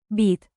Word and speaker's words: být: Remember the long Y in. Být. Stretch it like dramatic theater while sipping coffee very, very seriously.